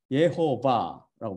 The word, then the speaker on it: 예호바: 그 감춰진 모음이 쉬바, 에로 발음되는 쉬바, 오로 발음되는 홀렘, 그리고 카메트, 아로 발음되는 카메츠라는 것입니다. 그래서 요드해, 바브해, 이것 테트라마톤이라고 테트라그라마톤, 이들 모음을 쫙 붙이면 뭐가 돼요? 예호바가 됩니다.